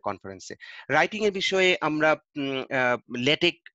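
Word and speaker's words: LaTeX: Writing এর বিষয়ে আমরা ল্যাটেক উচ্চারণ কিন্তু ল্যাটেক্স নয়, ল্যাটেক অথবা টেক উচ্চারণ বলে, অথবা MS ওয়ার্ডে লিখি, কিন্তু বেস্ট হচ্ছে ল্যাটেকে করা।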